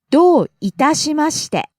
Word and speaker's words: どういたしまして: どういたしまして。 You're welcome. どういたしまして。どういたしまして。 Do starts high, falls on the second syllable. どう Itashimashite starts low, rises on the second syllable ta, falls on the second to last syllable.